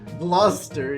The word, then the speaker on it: Gloucester: Fuck, you already knew how to pronounce Gloucester. Gloucester, yeah.